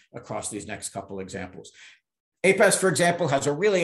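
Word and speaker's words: Apess: are these two men william apes sometimes pronounced apesh a uh native american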